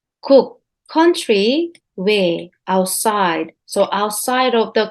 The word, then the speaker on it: 외: let's review Hansa again this fanta's pronunciation is way and its meaning is